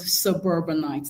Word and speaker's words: suburbanite: So, where exactly does the does the stress fall in the word suburbanite? Now the stress here actually falls on the second syllable.